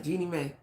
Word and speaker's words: Jeannie Mai: Now, Jeannie Mai, that's right, I said it right this time, Jeannie Mai.